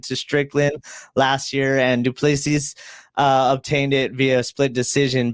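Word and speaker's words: du Plessis: We have that UFC 305 you're talking about tomorrow, where Israel Adesanya is back, and he's eyeing Duplessis is how you say it.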